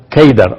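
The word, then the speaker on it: قيدار: En árabe la palabra Cedar se pronuncia Keidar o se escribe Keidar.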